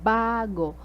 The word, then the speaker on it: bago: second syllable maganda next bago the stresses at the first syllable Gautam second syllable the